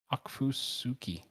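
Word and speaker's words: Okfuskee: central susie wow that's a fun one to pronounce akfusuki county there we go at 7 29 pm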